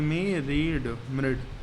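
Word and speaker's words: myriad: मिरिड को प्रोनाउंस करेंगे मी रीड, मिरिड।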